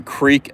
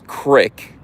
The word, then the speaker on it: creek: I'm Jersey, but I'd hear people saying, pronouncing creek as crick, pronouncing wolf as woof. And I'd say, you guys I don't know what it is, but I'm smarter than that. I'm Jersey, but I know it's not crick. I know you don't pronounce creek crick.